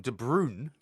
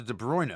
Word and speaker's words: De Bruyne: And also people have started to call him de Brun as opposed to de Bruiner. De Bruyne.